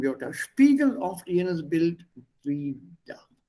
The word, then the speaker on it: wider: Die ausgewanderten Wörter spiegeln oft jenes Bild wider. Please note the spelling, wider. Pronunciation is exactly the same as W-I-E-D-E-R.